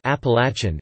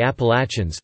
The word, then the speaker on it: Appalachian: dialects in the southern regions of the Appalachians. The word is pronounced Eplatnz, with the third syllable sounding like latch.